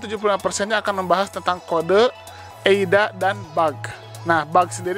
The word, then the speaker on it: Eida: atau tulisannya ada ya, walaupun tulisannya ada, tapi dibacanya Eida gitu ya. Jadi teman-teman gak usah kaget, loh kok ini yang benar ada atau Eida? Eida. Tapi tulisannya ada, ADA.